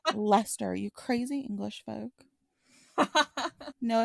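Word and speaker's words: Leicester: Le oh Earl of Lester I almost pronounced it wrong even though I have in Brackets pronounced Lester directly beside it because I'm like I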